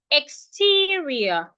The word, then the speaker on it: exterior: So most ex words that have three syllables are stressed on their second syllable. So this word we're also stressing the second syllable.